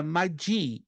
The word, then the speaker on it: magi: do grego koinê é madii Mad m a g i que no inglês se pronuncia madji mas no grego vamos no grego Madi o que que quer